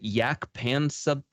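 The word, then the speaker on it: Jaak Panksepp: You said yak pansep? Pansep. Could you spell that real quick?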